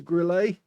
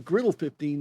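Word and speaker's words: Grille 15: I'm now pronouncing it the Klaus Kellerman way, calling it a Grillet. It's the Grill 15, actually.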